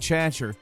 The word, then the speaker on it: Chater: with the ending either mark chater yes that's actually how you pronounce the uh the name you see on screen he confirmed it himself in the interview that he